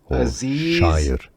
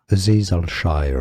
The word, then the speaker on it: Azeez Al-Shaair: Azeez Al-Shaair or Azeez Shaair. Azeez Al-Shaair. Al-Shaair. Azeez Al-Shaair.